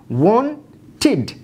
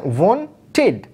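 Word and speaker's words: wanted: সুতরাং এই ট সাউন্ড থাকার ফলে ইডি যুক্ত যেটা হয়েছে তার উচ্চারণ হচ্ছে ওয়ান টিড। এই দেখেন, ট সাউন্ড থাকার ফলে হচ্ছে ওয়ান টিড।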